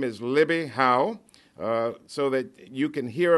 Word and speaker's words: Hough: My name is Libbie Hough. It's a very difficult name to pronounce correctly, but it's Hough like tough.